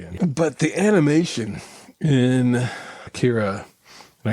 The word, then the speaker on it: Akira: but the animation in Kira and I guess it's pronounced like Acura or something like that where it's just like a different stress on different it holds up.